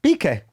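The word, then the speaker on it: Piqué: Pique.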